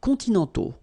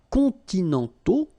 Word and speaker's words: continentaux: Okay, so les climats continentaux, remember, final X not pronounced, and then this AU together, they give you the sound O, okay?